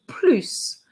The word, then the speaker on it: plus: to say plu or plus i have a video on that already on french action so if you're not sure please watch it but with this particular structure the plu is not pronounced so i'm going to